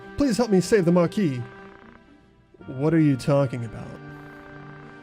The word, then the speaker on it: Marquis: But the Marquise. Oh, Marquis. I know how to pronounce things.